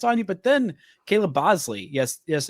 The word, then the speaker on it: Boushley: He gets nine strikeouts on you but then Caleb Boushley. Yes, yes, it's it's spelled b o u s h l e y.